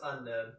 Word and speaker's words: Unown: maybe it's a typo it's pronounced on oh you're right there's no K in there I I assure you